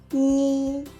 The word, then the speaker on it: 議: 建議，建議，建議的議呢，在客語呢會有個比較重的鼻音，議，建議。